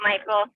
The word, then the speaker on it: Michael: You do pronounce it, Michael, so you got it.